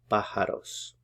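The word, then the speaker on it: pájaros: patient hears the birds put the stress here on the first syllables because the accent mark is there pajaros La paciente Oye Los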